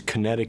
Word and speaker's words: QinetiQ: okay the name of the company is kinetic north america uh it's spelled with a q at the beginning capital q at the beginning and a capital q at the end and it's a to